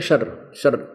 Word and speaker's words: क्षर: क्षर अक्षर, क्षर इसको वैसे उच्चारण करते हैं शर, लेकिन हम समझाने के लिए इसको देसी भाषा में बोला, अपने संत भाषा में, क्षर पुरुष और अक्षर पुरुष।